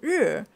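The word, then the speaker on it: 日: the the Chinese character so in Chinese it's it's called Ur So the meaning is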